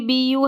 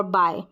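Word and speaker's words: buy: करके नहीं पढ़ रहे हम बुय नहीं पढ़ रहे हम बाय पढ़ रहे हैं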